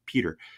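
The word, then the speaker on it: Piotr: Obviously, I'm pronouncing that in my English version, but P-I-O-T-R, Peter.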